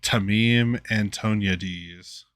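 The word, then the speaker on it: Tameem Antoniades: is i had to look up how to pronounce this guy's name tamim antoniades is the studio head at ninja theory and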